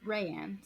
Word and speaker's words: Rianne: Her name is Rayanne. Or Rayanne, sorry. Rayanne. Spelled like Rianne.